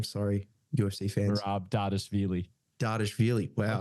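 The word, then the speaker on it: Dvalishvili: Dardashvili. Wow. Dardashvili? I think it's the V's are meant to sound a little bit like a W.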